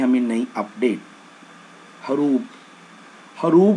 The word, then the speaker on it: ہروب: Actually ये लफ्ज़ हरूब है, बी आता है एंड पे बे।